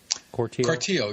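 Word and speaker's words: Cortile: Corteil, yeah.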